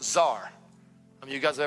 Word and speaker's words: Tsar: Prince in Hebrew is the word Tsar, pronounced Czar.